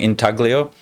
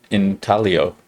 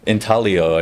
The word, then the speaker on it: intaglio: it i was saying intaglio but apparently it's an italian word that's in talio like the g is silent in italian and so it's not